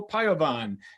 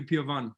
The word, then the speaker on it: Piovan: And with us on the show, you brought junior goalkeeper Piovan. Am I pronouncing that right? It's actually Piovan.